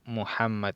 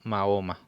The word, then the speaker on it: Muhammad: pronuncia como laja entonces su nombre muhammad y no mahoma como muchos lo pronuncian un error de traducción